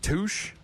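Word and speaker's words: Tusche: I think it's pronounced Touch. T U S C H E.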